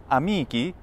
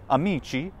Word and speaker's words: amici: what's the plural well the plural is amiki in classical pronunciation and it's Amici in ecclesiastical sounds just like Italian plural for friends but take the word